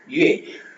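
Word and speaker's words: 月: Yue yue yue yue yue yue yue yuena month or moon ரெண்டு மீனி மாதம் அல்லது நிலா மாதம் அல்லது yue.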